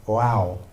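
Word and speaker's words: vav: There's this there's this um character called you pronounce it wow.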